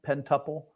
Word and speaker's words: pintuple: pronouncing it right uh pen tuple pintuple pintuple yeah yeah like like um like the pentagon pen tuple okay okay yeah larry